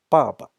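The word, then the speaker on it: 爸爸: The second ba doesn't have any sound, doesn't have any tone. So it's your dad, your father, 爸爸.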